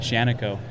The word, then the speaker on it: Shaniko: Shaniko. Shaniko.